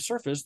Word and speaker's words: surface: In the word surface, the F-A-C-E base is pronounced fus. But when it's a word on its own, it's pronounced face.